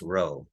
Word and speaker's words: rho: coefficient it's represented by this p and it's pronounced rho so we're also looking at that okay so